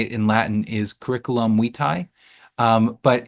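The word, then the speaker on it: curriculum vitae: proper way to say it in Latin is curriculum Wei um but it's it tends to be pronounced by most people curriculum v um or a CV is a comprehensive record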